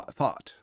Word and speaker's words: though: Happy thou thought.